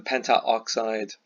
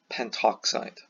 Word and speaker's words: pentoxide: So it's rewritten diphosphorus pentoxide. So it just flows better rather than pentaoxide, pentoxide. Okay, so there's a little pronunciation idiosyncrasies like that.